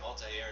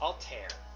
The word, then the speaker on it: Alter: And by the way, people, the only reason why I'm calling him Ali Air is because that's what I think it spelled like. Nope. It's Alter.